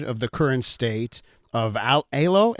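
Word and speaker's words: Aylo: It does sound, Solomon, that you are proud of the current state of ALO. ALO, is that how you say it? ALO, that's right.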